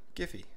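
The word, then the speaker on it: Giphy: go back home and open up a tool called giffy or jiffy depending on how you want to pronounce it so within there you're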